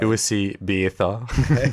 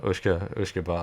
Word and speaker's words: uisce beatha: Uisce beatha. Yeah. Whisker. Uisce. I'd heard it pronounced a few times before at various tastings. And you can see how just phonetically Uisce became whiskey, basically.